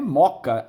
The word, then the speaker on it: Mooca: A mesma coisa, nós temos aí o bairro da Mooca. Mooca é moca, embora escrevamos com 2 Os, pronunciamos um só.